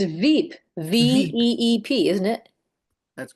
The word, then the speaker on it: VEEP: It's Veep, VEEP, isn't it? That's correct, Sally. Okay, Yeah. I thought it was Beep.